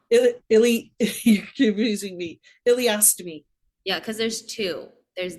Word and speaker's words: ileostomy: So for people that don't know, how do you pronounce it? Illinois. You're confusing me. Ileostomy.